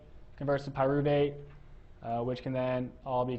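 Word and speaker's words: pyruvate: So, uh we have alanine is converted into pyuvate and aspartate is made into oxalloacetate. Okay. So, try to sound those out. So, alanine alanine three syllables. Pyuvate three syllables.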